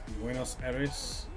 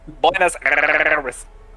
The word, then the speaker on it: Buenos Aires: Buenos Aires? Alright. You gotta roll the R. I can't roll my R's. I gotta roll the R. Oh, I can do it. Buenos Aires.